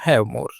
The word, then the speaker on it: Havmor: यही नाम बाद में बदलकर थोड़ा सा परिवर्तित हुआ और इसकी स्पेलिंग बदली एच ए वी एम ओ आर। उच्चारण वही रहा हैव मोर।